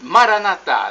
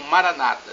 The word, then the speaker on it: Maranatá: E Maranatá, do dialeto de Jesus, o aramaico para o português, significa vinde Senhor. Os evangélicos, nossos irmãos separados, os protestantes, falam Maranata, não importa a pronúncia, o significado é o mesmo.